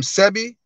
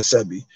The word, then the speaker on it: Sebi: the dr sebby way some pronounce his name sebby and some pronounce it uh um cb some say cb dr cb some say dr sebi i pronounce it dr sebi he's a holistic doctor